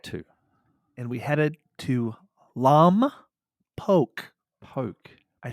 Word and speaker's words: Lompoc: We had to, and we headed to Lompoc.